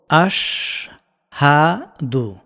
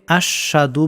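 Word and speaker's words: أشهد: তারপরের এই লাইনটা এভাবে আমরা উচ্চারণ করব। আশ হাদু। অনেকে আশশাদু বলেন হাটা উচ্চারণ করেন না।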